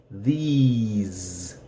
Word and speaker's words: these: And the S is going to be Z. These. And it's going to be longer. These.